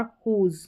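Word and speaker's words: whose: है WH, यहाँ पर WH कुछ में रहता है, तो हु पढ़ा, यहाँ पर W साइलेंट है। होल और हुज, क्या है, हुज। तो यहाँ पर डब्लू साइलेंट है इन सारी स्पेलिंग्स में।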